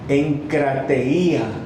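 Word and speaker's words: ἐγκράτεια: La palabra dominio propio, en el griego, la palabra dice que es, así se dice, se pronuncia, encrateía, así dice. So self-control is pronounced, as Pastor said, encratenía.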